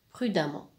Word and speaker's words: prudemment: ça donne brute d'amour on écrit avec un e et on prononce a donc le ici se prononce à prud'hon prudemment dans la nôtre exemple